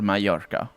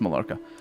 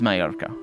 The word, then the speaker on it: Mallorca: has malarka over here or mayarka actually it's not pronounced malarka it's my arca with a yi sound i could hold on